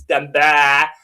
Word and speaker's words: Damballah: It's pronounced as Damballah.